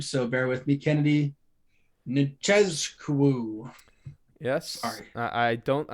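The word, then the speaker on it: Nzechukwu: Kennedy Nchezkou. Yes. Sorry. I don't. Maybe the Z isn't pronounced there. Nchezkou That's probably closer.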